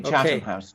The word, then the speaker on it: Chatham House: Am I pronouncing that correct? Absolutely, Chatham House.